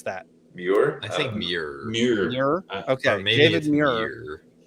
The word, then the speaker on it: Muir: Tell me how to pronounce that. Muir?